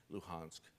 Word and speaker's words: Luhansk: donbass in donetsk and lugansk luhansk i'll slip back and forth between russian and ukrainian pronunciation so bear with me